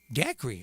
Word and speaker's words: Dacre: Dacre. Oh, well, how about that? It's not spelled like a daiquiri, but it could be pronounced that way.